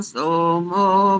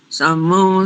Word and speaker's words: शमु: दो स्थानों पर देखो, ग्रावाण के बाद समू नहीं बोलेंगे, वहां पर तालव्य शकार है, शमू, ग्रावाण शमू, ऐसा।